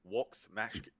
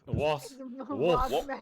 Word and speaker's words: Vox: So the V is pronounced with a W. It's Vox Machina. Vox.